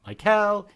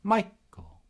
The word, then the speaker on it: Michael: Oh, my first name is a trochee, Michael. It's not Michael, it's Michael.